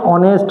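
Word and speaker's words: honest: যেমন অ্যান অনেস্ট ম্যান, তাহলে দেখো এই যে অনেস্ট, এই যে অনেস্ট শব্দটি এটি কি দিয়ে শুরু হয়েছে? এইচ দিয়ে শুরু হয়েছে।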